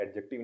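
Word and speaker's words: adjective: एडजेक्टिव है, ये लफ्ज़ एडजेक्टिव नहीं होता, एडजेक्टिव होता है। वो क्यों होता है, क्योंकि जब भी ए और जे के दरमियान में डी आता है तो वो साइलेंट हो जाता है।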